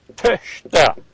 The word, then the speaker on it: Töchter: This is like an E. You're pronouncing an E, but again with pursed lips. So if you're going to try to pronounce Töchter, pretend you're saying Töchter, and you say Töchter.